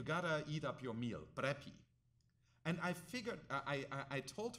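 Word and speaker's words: πρέπει: And I realized, and I asked her, and I got this right, that in contemporary Greek, you would say prepi, right, which is just a contemporary way of pronouncing the word, in a context where your grandmother orders you to do something.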